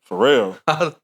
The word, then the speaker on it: Pharrell: Pharrell. I don't even think I pronounced the last L in Pharrell.